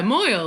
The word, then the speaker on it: Moil: shadow what moil boil is it moyle i don't know how to pronounce it yeah moyle like oil with an m of every reason to